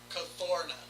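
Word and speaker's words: Kuthona: The month is pronounced Cathorna. Cathorna.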